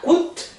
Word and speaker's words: coûte: Ça coûte, e aqui eu não falo, ó, tá mudo, porque se é não tem acento pra lado nenhum, é sem acento, caladinho que ele fica, tá bom?